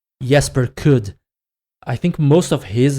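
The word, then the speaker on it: Jesper Kyd: I think most of the works by according to Assassin's Creed Valhalla, this is the proper pronunciation, Jesper Kudd.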